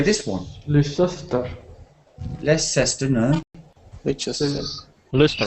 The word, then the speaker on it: Leicester: Leicester. Leicester. So le is the stress. This one has the stress on the le. So it's le. Leicester.